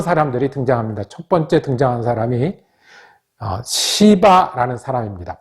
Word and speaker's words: 시바: 상대 하지 못했던 사람들이 등장합니다 첫번째 등장한 사람이 시 바라는 사람입니다 발음 주의 하셔야 됩니다 아 이씨 발을 어떻게